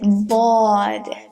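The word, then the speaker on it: ضاد: First, there's a bubble. Do the bubbly boko kesketa, boko toko kesketa. Bo. And then there's the alif that makes it longer, and then at the end there's a dal. Bod.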